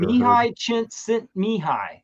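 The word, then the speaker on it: Csíkszentmihályi: Mihi Chint Mihi is how you pronounce that man's name.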